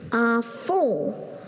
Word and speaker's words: à fond: À fond.